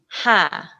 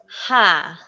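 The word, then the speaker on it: ห้า: words like for example five is ha okay so it's not it's like if i still cannot pronounce it like a hundred percent correct till now but it's not the simple ha it's like it goes ha which is like very difficult especially because they speak very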